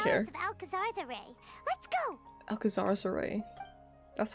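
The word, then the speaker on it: Alcazarzaray: Alcazar's Array. That's how you pronounce that.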